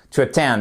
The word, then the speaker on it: attend: plus voyez vous avez votre apostrophe ici qui signifie que la seconde syllabe et la syllabe accentué attend et pas tout attend non attend et en plus c'est